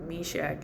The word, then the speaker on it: Meshach: The it was Shadrach, Meshach, and Abednego.